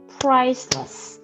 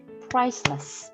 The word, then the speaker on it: priceless: 그래서 priceless 이렇게 발음을 하신다라고 생각을 하시면 되겠습니다. 자, 아까 설명을 했듯이 price 그 다음에 less 이렇게 슈와 발음 작게 하시는 거.